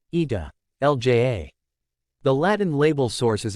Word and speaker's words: Italia: The name, Italy, comes from the Latin, Italia, pronounced, Ita, Lja.